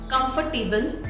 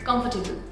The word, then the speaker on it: comfortable: It's not comfortable, it's comfortable. Comfortable. It's not table, it's table. Comfortable.